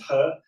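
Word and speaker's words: 何: Yeah, I mean, He Lifeng, to give him his, it was a confusing surname in Chinese, but it's pronounced He.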